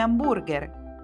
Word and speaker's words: hamburger: Beh, alcune volte sì, ad esempio nelle parole di origine straniera, come hamburger. L'H si scrive, ma non si pronuncia.